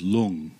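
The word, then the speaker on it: 龙: to pronounce the word dragon in Chinese is long like and it's spelled Lu ng oh wow so I want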